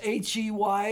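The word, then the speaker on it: ה: Yod an H pronounced H E Y or H A Y.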